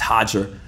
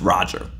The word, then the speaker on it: Roger: it's not Roger it's hodger no when you talk to Roger Gracie he'll tell you his name's pronounced Roger he doesn't pronounce it hodger so there's that I